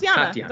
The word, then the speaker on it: Tatiana: been saying Tatiana, but it's not Tatiana. It's Tatiana. Wait, Tatiana. Okay, right. Because it's also a very common Ukrainian name, but they do something with they soften the second T.